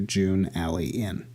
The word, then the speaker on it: Junalyin: I was able to scramble the letters until I came up with Junalyin, which, pronounced phonetically, comes to June Alley Inn.